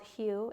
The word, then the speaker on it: Hu: I think it's called Hugh. Hu is how it's spelled.